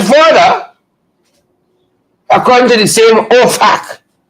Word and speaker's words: OFAC: that was sanctioned by OFAC, right? You got to be very careful how you're pronouncing this. OFAC. FAC. It's not a British way using expletives.